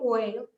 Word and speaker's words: Weil: No sé si se pronuncia así el Weil. Simone Weil. Weil. Bueno, yo lo pronuncio como Weil, porque yo la W no la pronuncio como B, pero Simone Weil, esa